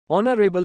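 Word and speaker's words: honourable: underscore underscore underscore man ऑनरेबल note silent H 50 once in अ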